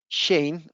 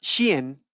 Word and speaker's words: Shein: Bien, entonces nace esta compañía que se llama Shein, o se pronuncia Shein, ¿cierto? Porque realmente es una compañía de origen chino.